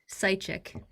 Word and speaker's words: Seitchik: And tonight we're here with, whose last name I'm afraid to mispronounce. Seitchik. Um, Say it again? Seitchik.